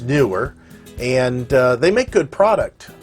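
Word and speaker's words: Neewer: new words and double e W er it's pronounced newer and they make good product and I've read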